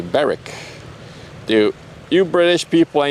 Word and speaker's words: Berwick: Berwick has a silent W, so it's Berwick.